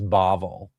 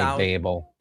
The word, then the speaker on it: Babel: Um the the proper pronunciation is Bavl. Uh but for for various reasons, I slip. Okay. Uh, and I say Babel, which okay, I was trying to get